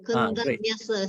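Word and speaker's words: Koṇḍaññassa: Again, same two letters. Again, Kondanesa. Not nyasa. Kondanyasa. Kondanyasa.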